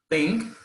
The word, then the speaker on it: think: Here the pronunciation is, ¿ven? La lengua, aquí un poquito mordidita, chicos, no muy fuerte. Think, thought.